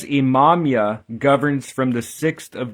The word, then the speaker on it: Imamiah: In Hebrew, it's spelled Ayin, Mim, Mim, Yud, Hey. But for the most part, throughout the literature in Latin or English letters, it's I-M-A-M-I-A-H, Imamia.